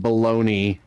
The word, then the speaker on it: bologna: Yeah, fucking baloney is spelled Bologna.